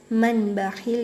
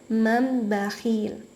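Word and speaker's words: مِنْ بَخِلَ: Jadi tidak dibaca manbakhil ya, karena nun sukun bertemu dengan huruf ba, jadi harus diganti dengan mim sukun. Jadi cara bacanya mambakhil.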